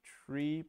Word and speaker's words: trie: for this specific case the term is a little is a terrible name uh it sounds like try so if well if you put it the plural then tries as the pronunciation makes a little more sense the rumor has it that it comes from retrieval and so you should say tree but trees is already taken so we say try i never really got